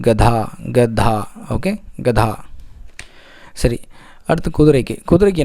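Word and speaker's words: गधा: சரி, அடுத்து வந்து கழுதைக்கு வந்து என்ன சொல்லுவாங்க அப்படின்னா வந்து கதா. சரிங்களா? இதில் நீங்கள் பார்த்தீங்கன்னா தமிழ் வார்த்தைக்கும் நான் ப்ரொனவுன்ஸ் பண்ணுற வார்த்தைக்கும் வித்தியாசங்கள் நிறைய வரும். இங்கே கதா அப்படின்னு வரும், ஆனால் ப்ரொனவுன்சியேஷன் வந்து கதா.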